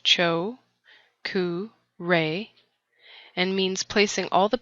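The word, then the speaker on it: Cho Ku Rei: the first Reiki symbol choku Ray the first symbol is the choku ray pronounced Cho re and means placing all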